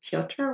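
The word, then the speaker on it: Piotr: heads up the main character his name is pioter which is spelled p-i-o-t-r it's a variant of the name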